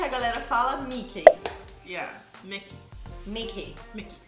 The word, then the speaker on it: Mickey: Yeah, Mickey. Mickey. Mickey. Não tem o EI no final, é I.